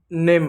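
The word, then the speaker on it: name: जैसे आपको देखिए नेम है तो एन का न हो गया ए का ए की मात्रा होगी एम हो गया तो नेम में पढ़ा ना इ नहीं पढ़ा जैसे गेम में देख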